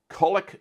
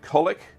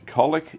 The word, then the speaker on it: Colwick: But having been there once or twice, kind of know they dropped the W's in some of those names.